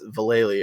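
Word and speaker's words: Valelly: teenager, and then I was like, oh, it's Valeli. Okay, that's really what. That's how you spell that fucking last name.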